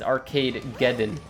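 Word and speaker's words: Arcadegeddon: in a long time when it's spelled arcade and then a g it's arcade geddon you can't put another syllable on arcade just because you want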